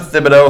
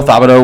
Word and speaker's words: Thibodeaux: 100 shout out to Thibodeaux fabito whatever the organ d-line I think that the th is just pronounced the H is silent Jimmy shout out to